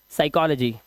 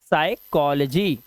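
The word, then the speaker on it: psychology: देना है पी को एस से पहले पी आया। इसे पढ़ते हैं हम क्या? साइकोलॉजी। क्या पढ़ते हैं? साइकोलॉजी।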